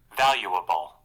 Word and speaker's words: valuable: तो देखिए यहाँ पे दो तीन चीज़ मिलके बन रहा है, वैल्यू और बबल का थोड़ा सा पार्ट, ठीक है। वैल्यूएबल तो वैल्यूएबल, तो मतलब थोड़ा उसको ब्रेक कीजिएगा। वैल्यूएबल जो है ना, वैल्यूएबल मतलब ये थोड़ा सा यहाँ पे थोड़ा सुरताल आता है इसमें। वैल्यू तक जाएंगे जब ना, जहाँ ई होने वाला होगा वहाँ पे रुक के एबल लगा देंगे, ठीक है।